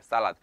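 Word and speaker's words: صلاة: 그 예배를 바로 살랏이라고 해요. 살랏. 그 살라드 있잖아요. 샐러드. 우리가 가서 먹는 샐러드. 약간 그 샐러드처럼 발음이 가깝지만 이거는 샐러드가 아니에요.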